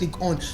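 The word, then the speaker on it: Ligue 1: When you pronounce French League On, it's French League On. On in the French is one. Yes. Even though English is one in the good, but their correct pronunciation is on.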